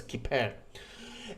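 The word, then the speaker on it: כִּפֶּר: Trust me, this is pronounced as kippur.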